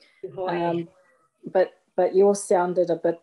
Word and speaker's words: Tūhoe: Tūhoe is the pronunciation. Tūhoe.